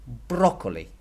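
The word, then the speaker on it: brócoli: example broccoli or broccoli it's gonna be broccoli broccoli because that's where the accent is and it tells you where you need to stress the word numero cuatro Akshay which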